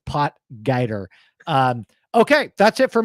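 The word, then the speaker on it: Potgieter: Kyle guer guer porer like come on guys pronounce the name right pot guer um okay that's it for me I don't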